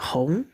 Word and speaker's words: 紅: Ya, kalau enggak ini kalau berdiri sendiri bacanya kong ya. Di sini saya coba kongs atau kong ya. Nah, ditambah mi pu jadinya hong. Hong. Nah, ini untuk membantu pelafalan ongnya ya.